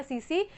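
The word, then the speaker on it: tsetse: इसको T silent होता है तो उसका नाम हो गया सीसी फ्लाई।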